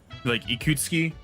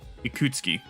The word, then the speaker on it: Ikutsuki: a lot of times they just don't pronounce the U, like the U and Su. They just like it's just ski, right? Like Ikutsuki, right?